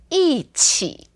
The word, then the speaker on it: 一起: And when it's paired with other tones, then we speak it as a fourth tone. For example, 一起, 一起, together.